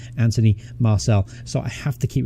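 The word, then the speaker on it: Anthony Martial: on pronunciation of them I keep calling him anthem RTL but in fact his name is Anthony Marcel so I have to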